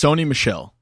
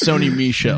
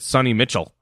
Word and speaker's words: Sony Michel: 2 Michel so it's Sony Michel there you go perfect are you sure cuz I've said it wrong every single time so I said sunny Mitchell yeah I've just wasn't